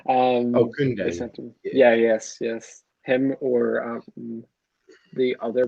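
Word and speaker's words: Kounde: The Sevilla Kunde. I can't pronounce his name right. It's my accent. Kunde. Kunde.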